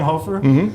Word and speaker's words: Hoffer: Hoffer. Hoofer. Hoffer. Hoofer. Yeah. Which one do you prefer? Technically, it's Hoofer, but it's spelled to look like Ho.